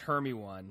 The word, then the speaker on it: Hermione: Well, wasn't that the thing too with like Hermione in the Harry Potter? Oh, nobody books? knew how to pronounce I it. have in friends North who America. pronounce it Hermione.